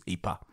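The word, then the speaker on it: Ieper: habit of going by the name the locals use which is the flemish name which is eepa but either way we're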